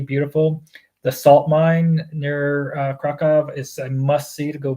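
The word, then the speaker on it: Kraków: It's Krakow is how we've always said it in the U.S., but it's Krakow. Is how they say it there.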